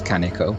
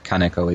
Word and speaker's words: Kaneko: down a lot and the stress on uh kaneko it should be more or less flat i believe right well i must